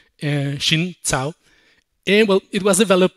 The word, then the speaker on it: Xin Cao: So, okay, now this new compiler option, -wflex-array-member-not-at-end, it was developed by Xin Cao. That's actually how Xin says we should pronounce her name, Xin Cao.